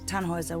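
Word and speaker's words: Tannhauser: why what's your name tanhauser we'd pronounce it taner with an um German Roots yes my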